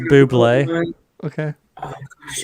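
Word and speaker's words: bubly: It's pronounced buble.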